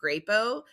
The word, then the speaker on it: Crapo: It was Senator Mike Grapo. If I can make a tiny little tongue in cheek, his last name is actually spelled Crapo, but it's pronounced Grapo.